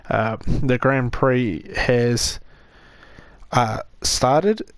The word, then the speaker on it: Grand Prix: Like I said in the previous videos, this Grand Prix, I may have been pronouncing it wrong as pricks before. The Grand Prix has started.